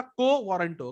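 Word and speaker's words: quo warranto: क्यों वारंटो माने क्यों बैठे हो. ओके, ठीक है, क्यों बैठे हो. ओके, वैसे ये एक्चुअली प्रोनाउंसिएशन क्या होगा, को वारंटो. ओके, स्टेटस को होता है ना, बट आई ट्राई टू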